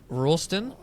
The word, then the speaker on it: Roulston: Today I'm joined by actor and author Alyssa Rolston.